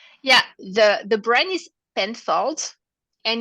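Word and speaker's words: Penfolds: say that name yeah the the brand is pen fold and it's owned by twe so can you spell it yeah it's p e n f o l d l d pen Falls and it's all by T w e so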